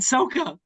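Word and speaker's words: Sokka: it's his name is Ong and Soka.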